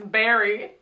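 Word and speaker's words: Beary: But the main bear's name is Barry. But it's spelled like B-E-A-R-Y.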